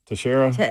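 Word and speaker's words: Teixeira: Tasher. How do you say it? It is Tara. Okay. Tasher. Yeah, cuz we asked him how to say it and that's what he said.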